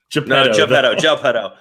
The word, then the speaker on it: Geppetto: Geppetto. Oh man, we need to make sure that is Peter Pan. Okay, this is getting weird. Yeah, no, we all the last two syllables were enunciated.